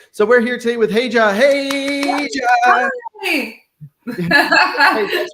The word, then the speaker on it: Regia: So typically people, that's where I start is I'm like, hey, it looks like Regina without the end, but it's Regia.